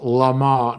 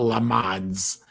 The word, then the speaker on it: Le Mans: And it is pronounced Le Mans, not Le Mans.